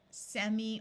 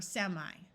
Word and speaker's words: semi: These two prefixes can be pronounced with either a long E sound or a long I sound. So you could say this as anti or anti, semi or semi.